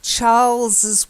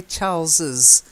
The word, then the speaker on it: Charles's: the last bit is Charles's wife okay now often with the possessive you might say Charles wife but we tend to say Charles's I don't know why